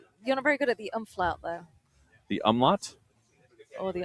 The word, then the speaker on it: umlaut: It is an umlaut, not an umflaut.